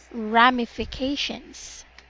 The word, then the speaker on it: ramifications: there and this word ramifications Rahmi ramifications not rainy rap ramifications vacation ramification very very good